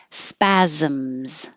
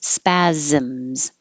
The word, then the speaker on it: spasms: come up like this spasms this is these look like s's the first one is an s but the second ones are z second and third spasms dizziness dizziness severity severity